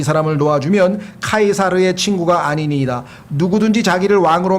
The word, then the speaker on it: 카이사르: 라틴어 철자 C는 라틴어에서는 K로 발음이 되고 영어로 가면 이게 S자로 발음이 돼서 그래요.